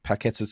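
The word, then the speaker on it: Paquetá: Yeah, Mandy said that Antonio Paqueta to Newcastle in January window. Yeah, don't think so. They couldn't even pronounce his name up there, the bloody idiots.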